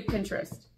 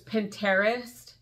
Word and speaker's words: Pinterest: do you guys say Pinterest do you pronounce it with a t or do you pronounce this two two separate words because it's you pin your interests or my husband says Pinterest ice my sisters and